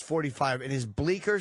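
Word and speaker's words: Bleecker: streets the c is silent um the j should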